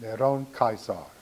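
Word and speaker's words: נרון קסר: And the name in Hebrew for Nero Caesar is pronounced Neron Caesar.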